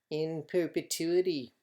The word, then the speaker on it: in perpetuity: that's what it says and it's pronounced like that it's Latin in perpetuity that means forever now